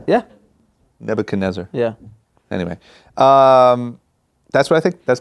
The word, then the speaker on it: Nebuchadnezzar: Nebuchadnezzar.